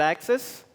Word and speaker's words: AXS: I am a senior data engineer at Access. Uh, so, you know, I'm sure nobody heard of Access, and it's spelled AXS.